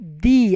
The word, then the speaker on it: the: बोलते हैं हम इसको दी अगर टी एच ई के बाद आने वाला नाउन का प्रोनंसिएशन का पहला अक्षर ओवेल आता है तब उसको प्रोनाउंस करेंगे दी जिसमें लांग ई साउंड आए फॉर एग्जांपल द रेंज